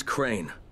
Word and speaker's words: Crane: store no my name's crane crane crane rhymes with train and brain and S and Grain